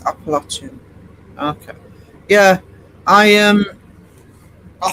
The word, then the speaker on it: Appalachian: Uh different depends on the region you're in. Uh, it's not in the Appalachian, it's Indiana. But to be honest, both ways get no matter how you pronounce it, apparently the correct is Appalachian.